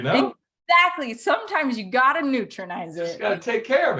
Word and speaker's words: Neutronize: you pronounce that supplement yes this is neutronize ah neutronize it's like nutrition and neutralize so like we're getting